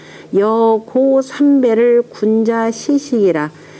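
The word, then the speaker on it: 如賈: 여가. 장사 고라고 읽어야 되죠. 참, 장사 고자. 여고 삼배를 군자 시식이라.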